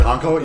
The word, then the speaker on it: Honko: Honko, is that how you say it? Laurie Honko, yep.